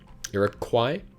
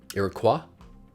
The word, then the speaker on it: Iroquois: sure i'm pronouncing wrong iraq kwai iroquois it's a french word i think which is